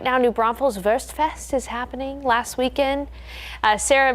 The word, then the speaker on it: Wurstfest: New Braunfels Wurstfest is happening last weekend.